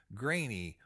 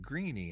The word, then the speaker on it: Graney: name of the day is grainy or some people might pronounce it greenie i'm not sure but gra n ey